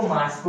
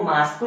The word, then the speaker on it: मॉस्को: उसके बाद रूस की मेन, उसकी जो कैपिटल है मॉस्को। याद रखिएगा, बहुत से लोग मॉस्को को मास्को कहते हैं, तो वो मास्को नहीं मॉस्को होता है।